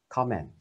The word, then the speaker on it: comment: Nếu mà danh từ tức là một lời bình thì mình đọc là comment, chữ O và chữ E, comment, nhấn đầu tiên, comment.